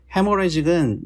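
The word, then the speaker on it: hemorrhagic: 그거고 이거는 이게 헤모레직은 요 H는 사실 묵음인데 이게 출혈.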